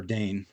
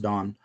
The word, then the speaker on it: Dane: Hollis Don, or Dane, is how it's pronounced, but you look at it and you think it's pronounced Don.